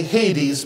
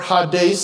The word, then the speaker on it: Hades: just a clarify see we usually just say Hades but the the true pronunciation is more Hades and it literally means